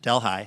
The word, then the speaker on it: Delhi: this town of Delhi, spelled like Delhi, but pronounced Delhi.